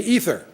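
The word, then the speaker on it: aether: a thing called ether not ether like you get in the medical Department it's spelled with an a AE t h e r it's a term used for what scientists used to think of as empty space the history of The Ether hypothesis and Aristotle way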